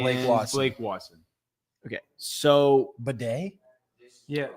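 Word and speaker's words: Badie: So Bedet. Yeah. He actually pronounces his name Bedet even though it sounds weird, but that's how he pronounces it.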